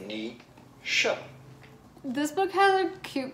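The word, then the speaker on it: Naoise: Nisha, right? Is that correct? We are looking at how to pronounce this important character of the Irish mythology, Nisha. Yes! Nisha.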